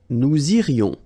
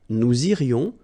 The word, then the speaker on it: nous irions: Nous irions, final S not pronounced.